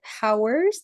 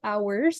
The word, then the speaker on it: hours: Jadi, this one is not hours, tapi hours. Jadi, H-nya hilang.